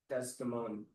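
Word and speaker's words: Desdemona: Sweet Desimone some other time. Just like a nickname for the mostly because Shakespeare doesn't want to give up that extra syllable.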